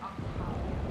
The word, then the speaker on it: Octavia: And it's pronounced Octavia.